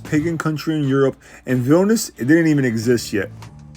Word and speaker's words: Vilnius: Vilnius.